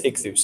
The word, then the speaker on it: ichthus: it really means Jesus savior God's son that's ichthus it's you know you've heard it said where